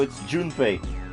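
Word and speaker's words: Junpei: uh but it her his name is pronoun is is spelled j u n p e i so it's June hey June you think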